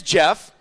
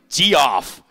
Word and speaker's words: Geoff: I know I know my name is spelled GE 0 FF most people like dude g off I know apparently my